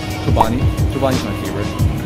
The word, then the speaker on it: Chobani: Chobani. Chobani's my favorite. Because it rhymes with umami.